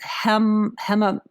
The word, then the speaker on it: hematopoietic: Is hematopoietic?